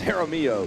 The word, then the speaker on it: Jaramillo: There's Jaramillo, soft J. Don't pronounce it.